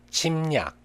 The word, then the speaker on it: 침략: If there is a rear consonant after mium, iung in Chinese character, it's pronounced as nian. 담력, 담력. 침략, 침략.